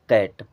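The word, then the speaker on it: cat: की मात्रा की तरह और सी जब भी किसी स वर्ड में स्टार्टिंग में आता है उसे हमेशा क पढ़ते हैं सी जब किसी भी शब्द में शुरू में आएगा तो उसका उच्चारण क की तरह करना है अब ये क्या हो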